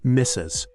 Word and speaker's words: Mrs: century reflecting a woman's marital status it is pronounced misses Miss is a full word not a contraction